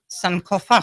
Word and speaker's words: Sankofa: your your album coming out um would you pronounce it because it's called some Kofa Sankofa yeah and it means it means go back